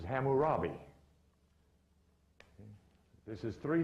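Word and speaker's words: Hammurabi: not cam but is which is pronounced in most literatures as hamurabi this is three names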